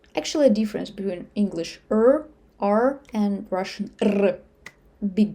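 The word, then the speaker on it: р: When I say rr, my tongue do very interesting movement inside. But, every time that English speaker try to pronounce it, all I hear is just rr rr rr, because their tongue not used to move like that. It's like vibration rr.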